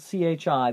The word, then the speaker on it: chi: like this this is the capital Greek letter Chi kind of looks like a big capital italic X it spelled c-h-i that pronounce it Chi and we're gonna call it